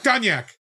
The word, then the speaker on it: cognac: This is where we watch Van Damme painfully try to pronounce cognac. It's cognac.